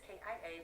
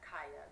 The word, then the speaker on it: Kia: Like, hey everyone, it's Notorious KIA. Welcome back to my channel. My name is pronounced Kia, not Kaya, because some of you girls do try it.